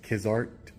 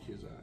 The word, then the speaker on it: Kizak: Okay, since you don't want to provide it, it's Kizart. No, that's not my name. That's not your name, Kizart? How do you say it then? My name is Deputy Kizak.